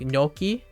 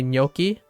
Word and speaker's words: gnocchi: Like gnocchi, when you say gnocchi, the pasta thing, the potato pasta, gnocchi, GN, GNOCHCCHI or something, gnocchi, it's nya, so GN. The same, it would be like N tilde, gnocchi.